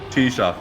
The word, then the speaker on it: Taoiseach: Is it Taoiseach, not Taoiseach? Taoiseach, yeah. You gotta admit though, it was close. Considering I've never heard it. Can you name the Irish Taoiseach though, Thomas?